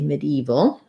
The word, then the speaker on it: medieval: But generally, I think that gets squished out. That syllable gets reduced and dropped, and it just sounds like medieval.